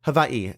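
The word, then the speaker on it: Hawaiʻi: two people I interviewed grew up in Hawaii or havai as I should properly pronounce it and it was just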